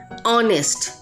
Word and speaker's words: honest: For example, R, honest, air. Here YH, it is H, and now you will say it is there is no AEIOU. So over here H is silent.